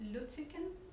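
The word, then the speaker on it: Lütticken: of your stuff, is this art historian Sven Luttiken. Is that how you pronounce it?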